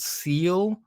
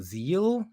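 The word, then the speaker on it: SEELE: report to it's it could be called seal or I've also heard it pronounced Zeal in like a German pronunciation um and they are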